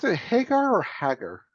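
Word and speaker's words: Hägar: Do you pronounce it Hagar or Hagar? I've always heard it Hagar, like Sammy Hagar.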